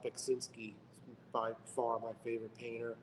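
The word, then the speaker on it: Beksiński: Tough one to pronounce. And yeah. It's Beksinski.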